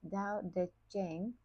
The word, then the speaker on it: Tao Te Ching: As he stated in his Tao Te Ching, pronounced Dao De Jing, the Tao Virtue Book,